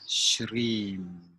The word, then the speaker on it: Shrim: Et puis, inspire, prononcer intérieurement Om. Et puis pendant l'expire, Shrim.